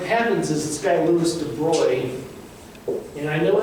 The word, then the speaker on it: de Broglie: second but what happens is this guy lewis de bruyne and i know it's spelled brutally it's pronounced de bruy don't look like an idiot okay it's de